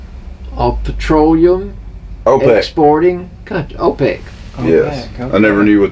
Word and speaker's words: OPEC: is that no no it's pronounced as a word but it's four initials organization okay I'll petroleum open Sporting Good OPEC yes I never knew